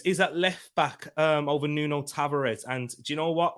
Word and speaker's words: Nuno Tavares: Cedric Suarez is at left back over Nuno Tavares. And do you know what? Or Nuno Tavares, as you meant to pronounce it.